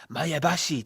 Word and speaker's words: Maebashi: Today's viewer mail comes from Brandon James from Maebashi, Japan. That's the correct pronunciation.